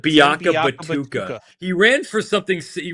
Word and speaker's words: Tim Biakabatuka: Tim Biakabatuka. Biakabatuka.